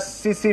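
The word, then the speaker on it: tsetse: फ्लाई is known as सीसी फ्लाई और टिट्सी फ्लाई। सीसी फ्लाई या टिट्सी फ्लाई भी बोलते हैं इसको, ध्यान से देखिएगा, या टी साइलेंट होगा या एस साइलेंट होगा, टिट्सी फ्लाई और सीसी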